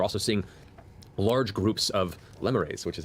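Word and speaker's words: lemures: from though you're also seeing large groups of limmerayes which is how it's pronounced I've been corrected and I'm so glad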